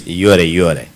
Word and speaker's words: Yoweri: You know, with the bush people, you know, you call it Yoweri. Is that how you say it? Yes, Yoweri.